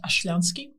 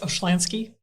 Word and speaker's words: Oshlyansky: The name is pronounced Oshlyansky. Oshlyansky. But I accept Oshlyansky because it's easier for people to say.